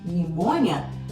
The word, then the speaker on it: pneumonia: No inglês não, você tem o pi lá, pneumonia, mas você não pronuncia esse pi.